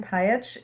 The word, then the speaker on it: Pajic: So my name's Pajich. It is pronounced nothing like it's spelled.